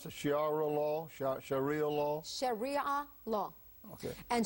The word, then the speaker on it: Sharia: us a little bit about how do you pronounce the shiara law sh Sharia law Shar law okay and Shar law is